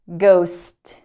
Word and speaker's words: ghost: okay gather gather gather ghost so in this case the second letter H is silent ghost ghost ghost okay